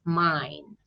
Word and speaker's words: mijn: So E and J, sorry, I and J, you will see a lot in Dutch words, and you pronounce it as A. Yeah, so when you see that word, I read it as mine, my naam, my name.